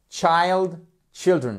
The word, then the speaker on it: children: Donc, vous voyez, on change la prononciation du I. Child, children et pas children.